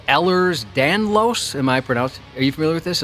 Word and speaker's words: Ehlers-Danlos: I have a connective tissue disease called Ehlers-Danlos.